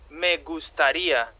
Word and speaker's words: me gustaría: No, not diarrhea, man. Me gustaría.